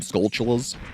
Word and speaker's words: Skulltula: It is spelt Skulltula, but it is a play on the word skull in tarantula, which most people pronounce with a CH sound, as in chula, like, tarantula, but you could also pronounce it tarantula.